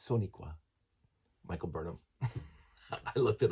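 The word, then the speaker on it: Sonequa: By the way, a Soniqua, not Shaniqua. It's Soniqua. Michael Burnham. I looked it up. Now, whether or not I'm pronouncing it correctly, but that's how it's spelled.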